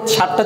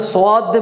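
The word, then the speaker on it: صاد: এই যে আমরা এখানে সো দিয়ে বলতেছি সো না বলে সদ বলতেছি এর কারণ হচ্ছে এই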